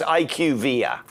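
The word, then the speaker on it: IQVIA: BUT IS IQ VIA HEALTH CARE DATA? SO IT'S IQ VIA.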